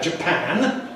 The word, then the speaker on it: Japan: Notice the vowels. A in Japan, where pan is stressed, but in Japanese. Japanese, where the first syllable, the Japanese stress, Japanese, and Japanese.